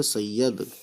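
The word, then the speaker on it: سید: फिर इसी ये को, क्योंकि इस ये पे तशदीद है, तो ये ज़बर या और दाल, यद, सर सैयद।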